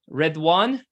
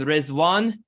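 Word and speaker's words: Riḍván: So just a point of note for everybody, Ridwan is the Arabic and Rizwan is the pronunciation of the Arabic and Persian, both of which are equally valid and usable. So Rizwan and Ridwan are both okay.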